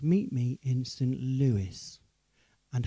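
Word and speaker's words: St. Louis: film called meet me instant lewis and had i not watched the film i would have mispronounced it because i always thought it was called meet me in st louis but there is a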